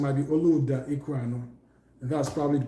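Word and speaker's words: Olaudah: The other one was Olauda Equiano. And I think the correct pronunciation might be Oluda Equiano.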